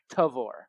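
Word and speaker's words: Tavour: it up online oh so there's there's a pronunciation guide it is tavor tavore okay flavor and or taste and flavor all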